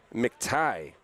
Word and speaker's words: McTighe: We'll have Cruz Lopez, Levi Van Patten, and McTighe is the pronunciation on that.